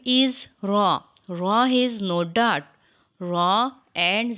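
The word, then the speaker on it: راء: the letter name is raw raw is no Dart raw and sahib a similar shape raw is a heavy sound later but sometimes light depending on the location it is pronounced when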